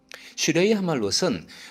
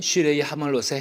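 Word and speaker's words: שיר המעלות: 이 제목은 히브리어로 슈레이 하말롯이라고 발음됩니다. 슈레이 하말롯은 문자 그대로 해석할 때 히브리 순례자들이 성대한 예배 축제가 열리는 예루살렘으로 가는 여정 중에 순서대로 불렀던 노래로 보입니다.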